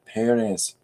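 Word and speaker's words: Pérez: because uh I'm just the stress is on the first E Perez yeah there we are emphasis on the first syllable Americans emphasize on the second is that right okay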